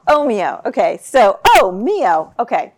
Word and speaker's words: Ohmio: it could you say it for me again Oho Oho okay so oh moo okay sounds a little Italian um but how